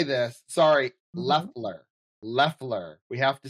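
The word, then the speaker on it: Loeffler: Leler. Leler. We have to say it right. Oh, I said Laughler. Oh, Leler. Laughler. Left. It sounds like it's got the O, but it's Leler.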